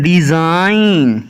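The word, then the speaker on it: design: किसी शब्द में और एन से पहले जी आया तो जी हमेशा क्या रहेगा साइलेंट तो एग्जांपल के थ्रू हम समझते हैं दे एस आई जी एन डिजाइन इसको क्या पन है डिजाइन नेक्स्ट है का ऍम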